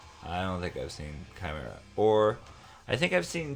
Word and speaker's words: Chimaira: This is Oh, Chimaira. That's how you say it? Okay, why isn't it c h like chai? Chimera. Oh. Okay. But it is Chimera.